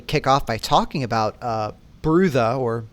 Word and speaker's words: Brutha: I think we agreed to pronounce it as Brutha because saying brother is going to get really annoying in an audio format really fast. Yeah, like I'm way too white to the way that wants to be pronounced.